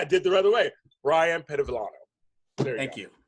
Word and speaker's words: Bryon Pedevillano: Bryon Pedevillano. There you Thank go. you. Yeah. I pronounced it's good.